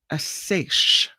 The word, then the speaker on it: seiche: This is, and I'll play the pronouncer for you. It's called a seiche.